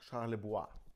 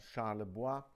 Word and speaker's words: Charlebois: Dieser Typ hier, frag mich nicht, wie der mit Nachnamen komplett ausgesprochen wird. Robert Charlebois. Stimmt, hat er sogar gesagt. Robert Charlebois mit ja, einem typisch 70er-Jahre-Album.